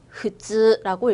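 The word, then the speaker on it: 普通: 흐즈라고 읽어주시면 됩니다. 그래서 우리 이번 파트에서는 통자를 음독으로 즈으라고 읽는다는 거 공부하고 있었습니다.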